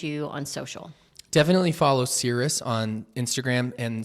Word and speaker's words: Cirrus: do they find you on social definitely follow Cirrus on Instagram and Cirus is spelled c i r r u s you